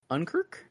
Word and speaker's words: Unkrich: But yeah, Toy Story 3, 2010, by Lee Unkrich. I don't know how to say it. Unkri. It's like Unk and then Rich.